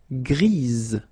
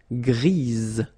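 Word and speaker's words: grise: Don't pronounce the s, but then for the feminine form, grease. Remember, grease.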